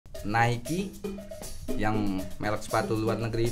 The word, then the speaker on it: Nike: Nike yang merek sepatu luar negeri itu. Oke. Aparel tulisannya Ni K. Ni ke bacanya tapi Nike. Nike.